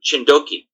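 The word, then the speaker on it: Txindoki: mountain at the mountain chindoki in Basque. Txi is pronounced as ch. So it's Chindoki and that's in the vas country as well.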